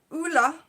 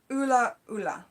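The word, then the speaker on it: ʻula: And in Hawaiian, it's pronounced ula, or ula.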